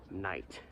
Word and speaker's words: Knight: to pronounce it and the american pronunciation of the name is night which makes sense because